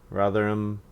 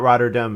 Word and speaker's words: Rotherham: Rotherham. I don't remember. There was a way I was saying it wrong, and I don't remember what the correct way. It's not Rotterdam. It's a town in England. Rotherham.